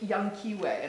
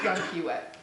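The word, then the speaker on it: Llanquihue: where they rear smolts, called Lake Yanquiwe, and it's spelled double L-N-A-N, so Lake Yanquiwe.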